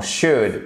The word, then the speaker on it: should: Attention, même chose dans should. Pour le conseil, on ne prononce pas le L.